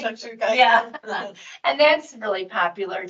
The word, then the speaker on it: shakshuka: dish called shakshuka did I say it right shakshuka yeah and that's really popular too and I